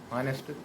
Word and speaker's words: honest: ऑनेस्ट vowels में एच जो है ना, वो जो साइलेंट होने के बाद ओ का लफ्ज़ है